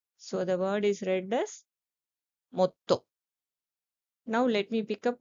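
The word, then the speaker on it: もっと: So the pronunciation given for the small size su is it. So the word is read as motto.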